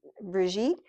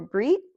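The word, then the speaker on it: Brigid: And so this one, um, the goddess, it's spelled Bridget basically, but it's Brigitte or Brit, as you'd probably hear it pronounced in Ireland.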